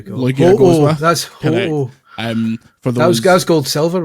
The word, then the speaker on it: Ho-Oh: in every territory is Ho-Oh. So Ho-Oh's a shite name because you can't pronounce it properly.